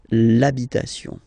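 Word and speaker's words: l'habit: the the masculine part even if you've got this ash then the first sound you hear is a okay so for the same reason you will have to take this a away and then you get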